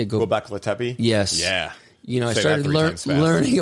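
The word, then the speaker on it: Göbekli Tepe: Gobekli Tepe?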